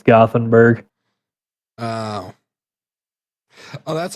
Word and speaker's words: Gothenburg: side note this is gottenberg is how you pronounce it in Europe um and this is